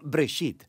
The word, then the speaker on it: Bereshit: génesis génesis viene de una palabra hebrea se pronuncia break sit simplemente significa principio hay muchas historias en el